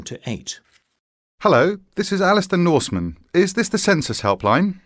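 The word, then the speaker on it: Norsman: your second name did you say it was Northman no Norman and it's spelled n o r s m a n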